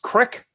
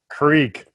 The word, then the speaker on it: creek: talk to strange dr strange okay is it pronounced crick or creek um depending on which relatives i'm visiting how do you pronounce it creek creek okay pepsi or coke oh coke coke all